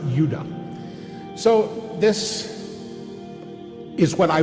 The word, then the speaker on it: Judah: More properly pronounced, Judah.